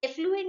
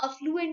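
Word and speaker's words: affluent: तो कई बार कुछ लोगों को मैंने ये बोलते हुए सुना है that we are from एफ्लुएंट family. तो एफ्लुएंट नहीं होता, वहाँ अफ्लुएंट होता है.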